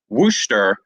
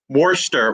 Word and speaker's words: Worcester: to pronounce this right worcester did i do that right worcester no you'll correct me but worcester okay worcester worcester massachusetts like w-u-h stir like you're stirring up massachusetts and uh for those